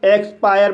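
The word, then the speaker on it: expire: ई को अ पढ़ा जाएगा। एक्स को आधा क और स पढ़ा जाएगा। पी को पढ़ेंगे। और आई को आई आ पढ़ेंगे। आर को र पढ़ेंगे और ई साइलेंट रहेगा। इस तरह से इसे एक्सपायर पढ़ा जाएगा और एक्सपायर मींस अंत होना।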